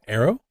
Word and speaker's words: Erro: So, first of all, arrow like pronounced like bow and arrow.